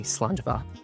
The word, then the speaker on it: slàinte: So in Scotland, we don't say cheers, we say slàinte, which means good health.